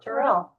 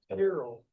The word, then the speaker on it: Tyrrell: Tyrrell. Rhyme with something, I'd have some kind of way to remember that. Tyrrell. What you told me. Like you're crying, Tier and tear, then roll, basically. Tear roll.